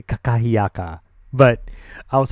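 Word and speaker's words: kakahiaka: And she was like, it's aloha nakakahiyaka. It's actually kakahiyaka, but I was like, what?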